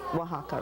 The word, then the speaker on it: Oaxaca: The X sounds like an S. Okay, now you told them how to write Oaxaca, right?